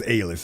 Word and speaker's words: Aylis: I'm gonna choose to pronounce that as Aylis. It's spelled A-Y-L-I-S.